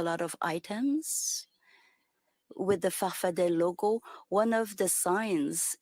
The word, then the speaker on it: Farfadet: Your movement, you call it Farfada with 2 A's at the end, but you pronounce it Farfadet.